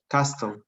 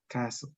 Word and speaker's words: castle: flag in the top castle correct listen to the pronunciation carlos castle castle castle yeah you don't say the you don't say the t castle okay castle and